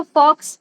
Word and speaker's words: faux: हम डिअ कह रही ओके तो हम इसको नहीं पढ़ते हम इसको फ पढ़ते हैं। ठीक है? ये आपकी मिस्टेक नहीं है। यह मोस्टली सभी की यही मिस्टेक होती है कि वो उसको फॉक्स कैलग्राफी पढ़ते हैं।